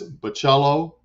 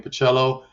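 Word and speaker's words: Bachalo: together in a book I'm there plus Chris bocello yep that's how you say his name pacello Chris michello who doesn't love a good Christmas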